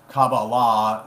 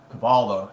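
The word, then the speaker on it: Kabbalah: uh when you mention something like you know Cababala or Cabala either one the same this is different pronunciation they think that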